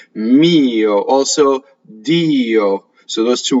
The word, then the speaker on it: mio: Next word is mio. So on the word for my, sometimes the semivowel is pronounced.